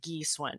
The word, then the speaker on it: Gi Swun: And Taiwanese, my name is pronounced Yi Shun with a hard G.